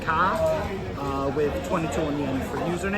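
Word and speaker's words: Kara: k a r a a lot of people say caras it's the the first day in silent or no way the second day is silent I don't even know myself but yeah it's car car my name is and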